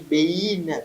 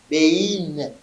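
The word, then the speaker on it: בֵּין: Alors quand je dis bein, c'est quoi?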